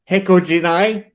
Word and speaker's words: Hecojeni: But we have Jeff and Heath from Hecojeni. I Yep. finally pronounced that correctly because I went back.